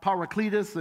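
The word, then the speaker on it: παράκλητος: If you look into the Greek, that word's pronounced parakletos, and it's got several different pronunciations.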